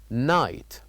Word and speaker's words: night: me night night night so here this word night has two silent letters which are G and H two silent letters g and H so we we don't say them we only write them here but we don't say them we say night night and the third word